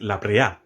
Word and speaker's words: La Brea: Number 3, the Libre Pitch Lake. In Trinidad, we say Libre, but it's a Spanish word, and I'm pretty sure the correct pronunciation is La Brea.